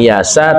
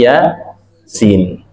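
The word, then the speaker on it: Yā Sīn: Jadi dibacanya bukan yasa, tapi ya sin.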